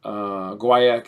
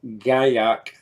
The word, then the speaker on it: guaiac: Guaiac is the traditional North American correct pronunciation, and gaiac is the French pronunciation.